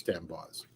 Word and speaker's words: D'Amboise: And I've heard her name pronounced several different ways, but I'm pretty sure it's D'Amboise.